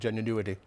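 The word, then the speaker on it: genuinewitty: My website is spelt genuine witty, but I call it genuinity, just kind of a play on words.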